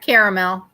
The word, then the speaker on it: caramel: it caramel caramel caramel not caramel i pronounce the e in it caramel caramel caramel pecan